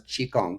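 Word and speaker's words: qigong: So anyway, I I'll I'll speak of it as Chong. Ch Hi. But the other spelling is qi g. They're both pronounced chong.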